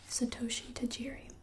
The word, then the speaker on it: Satoshi Tajiri: it was created in 1996 by man named Satoshi Tajiri and I think that's how you say his